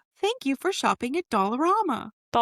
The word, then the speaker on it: Dollarama: We have dollar store educator or Dollarama educator. Dollar Tree. You read this wrong. I had it wrong and I did it again. It's Dollar Tree or Dollarama.